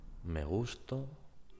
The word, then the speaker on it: me gusto: In the first case, the stressed syllable is gus. Me gusto. That means I like myself. In the second case, gustó, to is the strong syllable, the stressed syllable in this case, and it means I